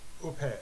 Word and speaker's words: au pair: Canine lupus You pair? lupus. Is that how you say it? You pair? No. Au pair is how you say it.